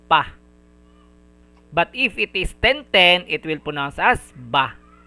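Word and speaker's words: ぱ: Ha with maru handakuten, it will be pronounced as pa.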